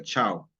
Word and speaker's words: Ciao: i a o chao se escribe Ciao pero se pronuncia chao significa hola en italiano okay Y por ejemplo